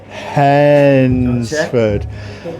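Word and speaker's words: Hednesford: Even our fans was coming on the radio and telling me how to say Hensford. That's right. You got it right. Hensford.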